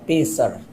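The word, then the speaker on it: Pesach: Se escreve P-E-S-A-C-H, Pessar, em hebraico.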